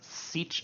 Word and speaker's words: sech: Let's think about hyperbolic secant, which is commonly pronounced as sech of t.